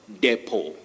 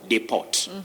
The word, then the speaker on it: depot: words yeah we have depo we don't talk of deport don't say be a deport we say beer depot okay then when somebody